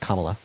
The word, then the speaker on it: Kamala: then second of all her name is pronounced kamla so why are you